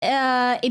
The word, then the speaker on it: est: And then like French, it's est difficile. Like no pronouncing S, as far as I'm aware.